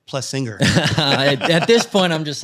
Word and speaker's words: Plessinger: Everyone murders his last name, including me. I always say Plessinger, and my wife's always like Plessinger.